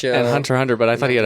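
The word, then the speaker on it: Hunter × Hunter: you know that show Hunter X Hunter. Hunter X Hunter X Hunter. Well, actually, you know, in the culture of Japan, you don't actually pronounce the X as a syllable.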